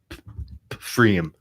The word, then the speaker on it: pFriem: It's Pfriem. Freem. Freem. That can't be The right. P is silent. It's like pneumonia.